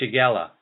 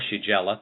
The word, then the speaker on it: Shigella: coli bacteria, and Shigella, or Shigella, depending on how you pronounce it, on even heavily contaminated foods and surfaces.